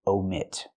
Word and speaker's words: omit: and a sentence you omit use the long o like no and go omit these are two different